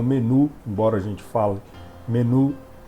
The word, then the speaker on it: menu: Por exemplo, gourmet, menu, a pronúncia correta é menu, não menu, embora a gente fale menu.